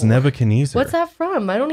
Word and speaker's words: Nebuchadnezzar: It goes back to the Book of Daniel, King Nebuchadnezzar. I have no idea how to say his name. Say that again. Nebuchadnezzar.